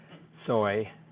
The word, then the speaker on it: SOI: And then people talk about how to classify this, and they pronounce the acronym too as SNOI and SOI.